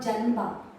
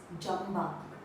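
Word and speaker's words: ಜಂಬ: It's not janba, it's jamba.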